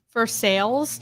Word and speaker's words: Versailles: all the countries yeah verse Versailles for sales you cannot yell at me for saying Louisville yes I can because it's for sales that's what that's what